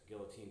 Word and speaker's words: guillotine: your pecs some types of north south chokes Guillotine chokes things along those lines actually do make